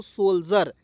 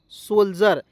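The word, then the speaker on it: soldier: तो इसे पढ़ेंगे दोस्तों सोल्जर। देखेंगे IRE है तो देखिए डी का उच्चारण क्या हो जाएगा? ज के रूप में हुआ, ठीक है, और आर को लिख दीजिएगा र। सोल्जर, SOLDIRE, तो क्या पढ़ेंगे दोस्तों?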